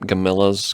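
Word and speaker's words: Gamilas: spelled weird it's like gamelons but yeah they pronounce it camilla's camillas yeah and they show up and they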